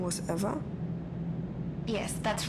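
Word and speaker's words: Ewa: don't mind did you say your name was eva yes that's right so you have the same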